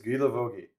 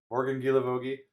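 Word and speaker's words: Guilavogui: Uh, we have Morgan Gilavogi. We had to look up how to say look up how to pronounce that one. Uh but according to uh YouTube pronunciation guide, it is Gilavogi. So Gilavogi.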